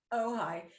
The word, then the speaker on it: Ojai: pronounce it oh yeah it's a tricky one o j a i it's too much indian oh hi so my husband and